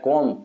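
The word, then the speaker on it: comb: यानी चाकू होता है कोम कंगा होता है जिसमें कोम ही बोलते ब नहीं बोला जाता और लिसन लिसन में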